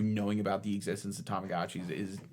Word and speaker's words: Tamagotchi: Did you know that that's how it's pronounced? Tamagotchi. I don't like it. I don't think it's right. I Everyone has always said Tomagi.